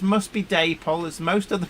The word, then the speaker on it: Dapol: I suppose the answer is Daypol.